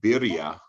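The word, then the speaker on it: birria: you well joey introduced us to something called birya which is a new trendian mexican taco uh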